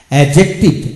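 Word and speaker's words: adjective: শব্দ দেওয়া হলো যেমন অ্যাজেক্টিভ অ্যাজেক্টিভ এখানে ডি উচ্চারিত হলো না যেমন এ জয়েন্ট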